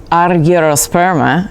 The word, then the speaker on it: argyrosperma: species: Peppo, Maxima, Mixta, which is now called Argyrosperma, I swear to God that's how you say it, and Moscata, which has an SCH like in school, or bruschetta.